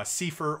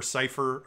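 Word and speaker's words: Seifer: primary rival of squall uh sifur or cipher uh i've heard it pronounced both ways both of them were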